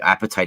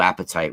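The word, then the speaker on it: apatite: it would probably be appetite is a stone not not being hungry it's spelled a p a t i t e and specifically blue appetite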